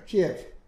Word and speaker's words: Kyiv: So this is the capital of Ukraine, Kiev, or Kyiv, depending how you pronounce it.